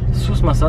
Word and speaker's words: Souss-Massa: Sousmassa, tu l'as très bien dit, bravo.